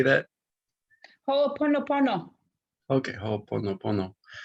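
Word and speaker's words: Hoʻoponopono: Hooponopono.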